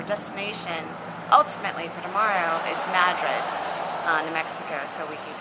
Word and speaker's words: Madrid: But yeah, we're going to play a little bit today because our destination ultimately for tomorrow is Madrid.